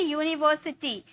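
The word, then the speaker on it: university: यहां भी देखिए यू है तो हम यहां पर प्रोडक्ट से एन का यूज कर देंगे क्योंकि यू हमारा वोवेल्स होता है बट इसका साउंड आ रहा है यूनिवर्सिटी य का साउंड आ रहा है और य हमारा कंसोनेंट होता है यानी कि एन का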